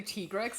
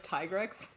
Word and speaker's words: Tigrex: I say Tigrex instead of Tigrex, because I'm saying it's Swedish tiger. I'm saying always it's said Swedish Tigrex. tiger. Okay. Alright, I It messaged does kind of Walker. work. Like it rhymes with T-Rex.